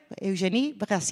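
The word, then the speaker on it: Eugénie: Y tenemos a la primera cocinera realmente importante en Francia que Eugen se pronuncia así, ¿no?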